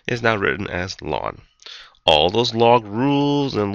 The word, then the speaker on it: ln: notation that's called Ln of X or it's pronounced lwn L A WN and that actually stands for the word natural